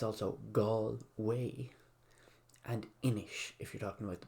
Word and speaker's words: Inis: As an aside, it's also Galway and Inish if you're talking about the board game, which is Irish for island.